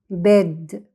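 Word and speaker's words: bed: طب تعالوا نقرأها تبقى بيد. يبقى لو في حرف واحد في الكلمة بننطقه بصوته.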